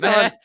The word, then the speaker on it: Marchessault: Marchessault. Marchessault.